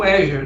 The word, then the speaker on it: Azure: A nuvem da Microsoft, o Azure, né? Para quem está estranhando a pronúncia, né? Aí é Azure que se diz, né?